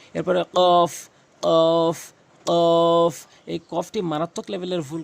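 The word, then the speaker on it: ق: দাগগুলো নিচের ঠোটের পেটে রাখবেন ফা ফা এরপরে কফ কফ কফ এই কফটি মারাত্মক লেভেলের ভুল করে থাকে মানুষ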